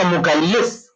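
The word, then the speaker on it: مكلِّف: and he is the mukallif. Remember these pronunciations very, very carefully. Mukallaf and mukallif. The people who understand Arabic, one vowel here and there makes a mistake. Totally different word.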